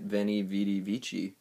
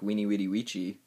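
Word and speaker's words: veni, vidi, vici: like a w so it actually sounds more like weenie witty witchy which uh doesn't really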